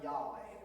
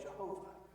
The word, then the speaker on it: Yahweh: literally and by tradition you may have heard the term Yahweh or pronounced another way Jehovah both are attempts to